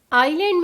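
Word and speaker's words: island: होगा हम बोलेंगे इलाके आइलैंड में भी आई और एल के बीच एस है तो एस की वॉइस नहीं होगी एस साइलेंट ही रहेगा इसको हम बोलेंगे आयरलैंड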